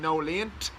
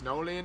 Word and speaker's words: Nolene: That's why me and Nicola keep saying no leant, because that's how he pronounced her name, even though it's Nolene.